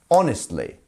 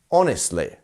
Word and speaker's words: honestly: didn't like the movie How would you pronounce honestly where is the stress it's in the first one right on honestly honestly and that's where we